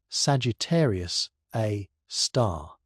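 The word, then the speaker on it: Sagittarius A*: At the heart of our galaxy lies a supermassive black hole called Sagittarius A, often pronounced Sagittarius A star.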